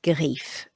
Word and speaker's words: griffes: Quatre griffes. But you won't hear those S's on the end of the word.